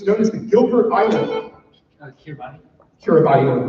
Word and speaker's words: Kiribati: Kiribati. Kiribati, or pronounced Kiribati, that's fine.